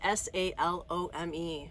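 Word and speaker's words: Salome: how you say it it's s a l o m e so it's not shalom it's not salomi it's sh Shalom anyways so this is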